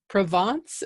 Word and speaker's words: Provence: sure okay Curtis who comes to us from Provence am I saying that right that's perfect yeah